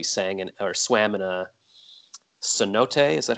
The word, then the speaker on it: cenote: very nice we sang and swam in a cenote is that how you say it yeah so